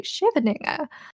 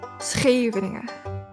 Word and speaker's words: Scheveningen: German people have a tendency to say Scheveninger, but you pronounce the SH part as CH part S, or like her, like in geest.